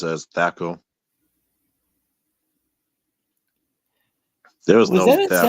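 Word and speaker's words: THAC0: So does it use And then we Thaco?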